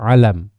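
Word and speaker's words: عَلَم: kiamat Bil Ain Wam dengan Ain dan lamnya di fathah alam ya yang artinya tandaamatunah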